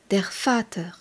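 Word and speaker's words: der Vater: le père se dit derfat et s'écrit V a T e r der on rappelle que le V qui s'appelle le fa en allemand se prononce fe comment dit-on l'enfant l'enfant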